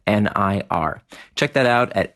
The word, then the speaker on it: Nir: nearandfar and you want to enter in the discount code near and far now remember near is spelled like my first name nir check that out at